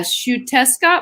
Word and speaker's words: Xiuhtezcatl: Yeah, Xiuhtezcatl Martinez, Xiuh. I've got to actually spell it out.